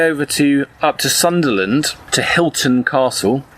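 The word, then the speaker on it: Hylton Castle: And this is going to take us all the way over up to Sunderland, to Hilton Castle, HY, not like the hotels.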